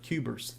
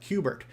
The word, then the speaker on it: Q*bert: I'm saying Cuber, and Cuber is the wrong name. How about we pronounce it properly? Bert. In the arcade, it was called Bert. That's how it was kind of listed out, Cubert.